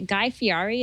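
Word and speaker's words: Guy Fieri: show on the Food Network uh is it guy fii is that how you pronounce yep yep and uh basically what happened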